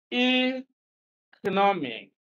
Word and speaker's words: economic: among these pronunciations and C is the correct one economic economic now stress is on the second syllable from the end of the word again we are using